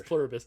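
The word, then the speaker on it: Pluribus: What's funny cuz you guessed that, cuz you didn't even say it right. Uh it's Plurbius.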